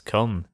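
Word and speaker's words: KOME: It's written K O M E, but it's pronounced on air as come.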